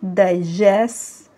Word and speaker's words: digests: يبقى هنقول it digests food. repeat after me، قولوها معايا كده. it digests food. لما بنضيف لها الاس هنحاول نخبي التي شوية عشان ننطق صح.